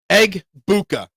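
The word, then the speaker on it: Egbuka: Aguka. How do we say his name? I've seen like four different spellings of this guy's name. It's Eggbuka. E G B U K A.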